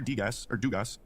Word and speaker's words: Degas: It's just Degas. Degas. Oh, I've got the pronunciation right there. I thought I saw an S at the end of that. Well, I mean, he it is did, but it's French.